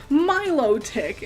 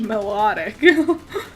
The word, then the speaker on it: Milotic: That's not how you pronounce that. Milotic, and I crazy. Bananas. Like, I pronounce a lot of things wrong, I know that. But I would have sworn on my life it was pronounced melodic.